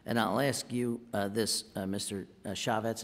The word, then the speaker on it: Chaffetz: Chaffetz, is that, am I pronouncing that right? Chaffetz, yeah.